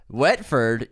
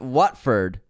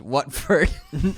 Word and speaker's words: Watford: People are still really upset about this pronunciation. Wetford? You mean Watford? Pronounced Watford.